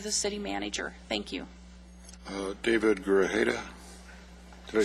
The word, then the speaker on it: David Grajeda: David Grajeda.